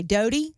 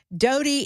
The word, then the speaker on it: Doughty: Judge Terry Doughty, Doughty, Doughty, that's how I would pronounce it.